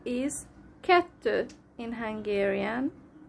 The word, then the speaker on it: kettő: 2 is kettő in Hungarian, kettő, and in Russian dva.